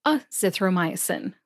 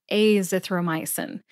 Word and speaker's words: azithromycin: like to mention that some people like to say a zthy with a short a sound instead of a zthy with a long a sound I have been known to vacillate between the two myself I thought I'd admit that here and if you say it either way you are in good company again I have been